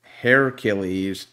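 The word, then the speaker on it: Heracles: makes sense when you think about it hair hair achilles and hair across okay yeah so it's like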